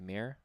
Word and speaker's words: Mayer: Is that how you say it? Mayer or Meyer? Mayer.